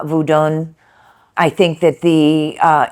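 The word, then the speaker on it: Vodou: Um, the pronunciation is different. Mine isn't the best. Uh, voodun.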